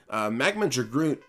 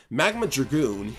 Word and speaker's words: Magma Dragoon: so of course i'm going to use it magma groot oh wow i mispronounced that completely magma dragoon is a more difficult boss than you might